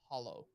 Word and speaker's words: Halo: the question is uh halo is actually pronounced hollow oh um so that's